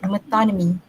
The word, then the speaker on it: metonymy: pronounce it is metonymy.